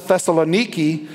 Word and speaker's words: Thessaloniki: about this place called thessalonica in fact you can still go visit it today and the travel guide will probably pronounce it Thessaloniki and it has a